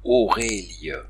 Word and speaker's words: oreille: position il devient auermé comme on le voit dans oreille auré aur qui s'écrit à la façon moderne oreille mais on prononce oré cela dit s'il est